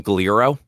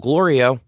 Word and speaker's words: Glorio: name is Glorio, um Goku does not say his name correctly until the end of the last episode. Okay. The entire time he calls him Gro and the entire time he's just like, "It's still Glorio." And then like answers whatever